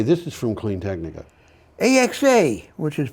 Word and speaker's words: AXA: background yeah okay this is from clean technica axa which is pronounced axa axa okay i looked into that okay try to